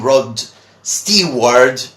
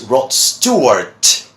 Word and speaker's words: Rod Stewart: with your singer well many people call him rod Steve word or whatever but his name is Rod Stewart two words okay Rob